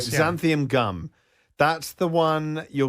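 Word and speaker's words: xanthan: a few tips to yeah go all right xanthium gum that's the one you're going to see in a lot it's spelled with an x x a n t h an gum xanthium gum is how you pronounce it so again salad dressings sauces GL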